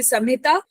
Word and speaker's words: संहिता: If you pronounce it in Hindi, it will be Samhita, but they're written Sanhita.